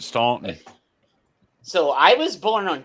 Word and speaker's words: Staunton: Staunton, Virginia, and the people that live there pronounce it Staunton.